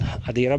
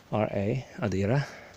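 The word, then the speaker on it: Għadira: This area, which once again is called Adira Bay, G-H-A-D-I-R-A, Adira. G-H is silent in Maltese.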